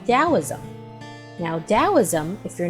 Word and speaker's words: Taoism: own interpretation now taoism even though it sounds like it's pronounced with a d it's actually spelled t-a-o-i-s-m and it was created